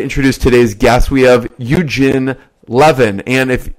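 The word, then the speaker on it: Евгений: I'm excited to introduce today's guests we have you-jin levin and if it's if you're a true Russian you'd know how to pronounce his name you've Guinea and he was one of the first investors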